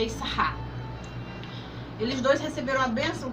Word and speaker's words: Issachar: O irmão é Zebulun, que é Zebulon conhecido, e o Issacar, que no hebraico a pronúncia é Issachar.